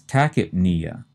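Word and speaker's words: tachypnea: next term has the opposite meaning and that's takip Nia again we pronounced the first two syllables tacki and the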